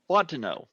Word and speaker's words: Fontenot: Folks, I give you the wonderfully awesome Fontenot. I got that right. Fontenot. Fontenot.